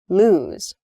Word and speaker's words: lose: You can hear maybe the difference in vowel sound. Loose and lose.